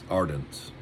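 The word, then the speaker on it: Arendt: Ardent. I think that's how you pronounce that. A r n dt.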